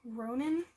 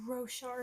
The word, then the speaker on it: Roshar: in the world of ronin I think is how you say that oh it's roshar not Ronin and it follows there's a